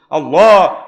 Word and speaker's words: আল্লাহ: আল্লাহ যে নামটা নিছে প্রথমে হামজা এভাবে কইতে হইবো আল্লাহ পুরাসির সত লড়ি উঠবো মারে কে আরো জোরে আল্লাহ আল্লাহ মারে কে এটা হল শুদ্ধ উচ্চারণ যেমনে এমনে কইলে তো হবে না আল্লাহ জাল্লাশানহু সূরা আল